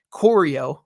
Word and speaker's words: Corio: him in the film, Corio, rhymes with Oreo.